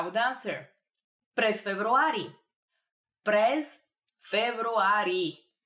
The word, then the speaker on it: февруари: През февруари. It's a very similar to February. Февруари. Just a little bit of a trick over there in pronunciation, but that means in February.